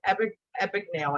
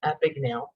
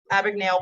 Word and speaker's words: Abagnale: And one is Frank Abagnale. I always mispronounce it as Abagnale.